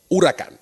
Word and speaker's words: Huracán: your instant rewind to New Horizons the Lamborghini Huracan hurricane hurricane hurricane hurricane hurrican and now that you know how to pronounce it coming soon the replacement to the